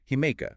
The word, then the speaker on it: Himiko: Japanese history than Queen Himiko, or as our sources insist on pronouncing it to be historically accurate, Himeka. Right, with the me sound likely dropped or unrecorded, we'll refer to her as Himeka today.